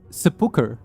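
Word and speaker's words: sepulchre: word for like essentially it's like a sepulture pronounced sepulcher.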